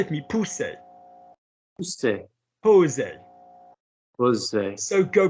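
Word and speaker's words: pousser: And how do we pronounce P-O-U-S-S-E-R? How do we pronounce that, Brendan? Pousse.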